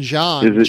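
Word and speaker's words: Jeanne: Jonathan, how do you pronounce Jonathan's last name? Jonathan John.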